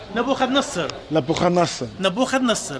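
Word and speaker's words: Nebuchadnezzar: How do you pronounce his name? Nabuchadnezzar.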